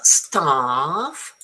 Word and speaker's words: staff: B and C okay remember staff is nice and long like half.